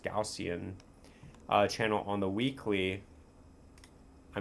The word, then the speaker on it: Gaussian: Now, taking a look at the Gaussian, it's pronounced Gaussian, channel on the weekly, I mean, there's nothing bullish about this.